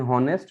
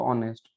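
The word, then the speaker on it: honest: जैसे ऑनेस्ट है, हम लिखते हैं हॉनेस्ट, लेकिन पढ़ते हैं उसको ऑनेस्ट, है ना।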